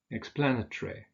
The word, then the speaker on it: explanatory: Now, with those adjectives that have 4 syllables, that consist of 4 syllables, we usually stress the second syllable. So we say respiratory, conciliatory, defamatory, explanatory.